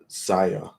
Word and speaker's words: Xia: So yeah, it's spelled with the XIA, but it's pronounced Zaya.